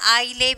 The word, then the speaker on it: island: First one, island, we have already seen that. Island, and then island. S. So here S is silent.